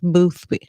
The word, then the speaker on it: Boothby: I tried to figure out how to pronounce it, but that's the correct way to say it. Boothby.